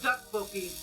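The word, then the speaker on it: tteokbokki: I think duck, like D-U-C-K. It's spelled with 2 T's, but it's pronounced duck bulky.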